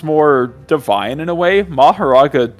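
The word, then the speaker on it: Mahoraga: So both Maharaga and Makora are correct, technically. Yes, it just depends what you're going However, with. So I've heard that Maharaga is more correct, and I pronounce it Maharaga, so I'm going to continue saying Maharaga.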